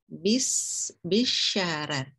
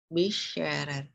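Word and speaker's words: بشرر: Itu dibacanya tarkik di ra' yang pertama. Ya, bitarki qira'il ula li ajli kasri ra'is tsaniyah. Bisyarar. Bisyarar.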